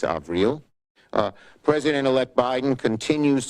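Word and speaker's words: Avril: to Tony blinkin and ail AEL Haynes she corrected my pronunciation it's AAL uh President elect Biden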